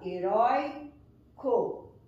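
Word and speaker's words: heroico: Então, a palavra heróico, por exemplo, eu percebo que a sílaba mais forte está aqui, na penúltima sílaba, heróico.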